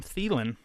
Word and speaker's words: Thielen: proud of me I figured out how to pronounce this guy's name Adam Thielen our record is his seventh straight game with